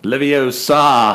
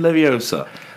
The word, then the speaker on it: Leviosa: It's Leviosa, not Leviosa."